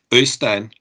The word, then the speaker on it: Øystein: Can I hear you say it? Øystein. Øystein. Øystein. Yeah, it's kind of a tone in there that doesn't. It's kind of a very typical Norwegian kind of thing.